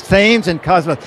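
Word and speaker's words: Thames & Kosmos: No, it's Thames and Cosmos.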